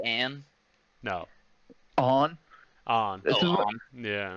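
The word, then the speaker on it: Ane: It's on, right? It's Is that on. how you say it? Yeah, it's on.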